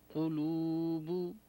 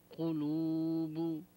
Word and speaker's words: قلوب: اہاہا قلوب قلو نہ ہو قاف کے پیش کے ساتھ قلوب.